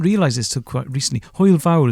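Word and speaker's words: hwyl fawr: this took quite recently oil vowel is how you say goodbye which basically means big fun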